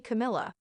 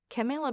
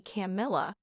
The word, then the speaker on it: Camila: this is not the first time he has mispronounced her name saying he calls me camela caral chameleon Blake then went on to make